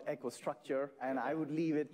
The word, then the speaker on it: EcoStruxure: Finally, you don't pronounce the X in EcoStruxure? Well, you did it without the X. I always get it pronounced wrong. EcoStruxure or EcoStruxure or? Well, we call it EcoStruxure, and I would leave